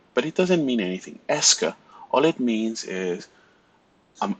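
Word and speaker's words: est-ce que: means it means nothing it's just just pronounce it ESCA right and you just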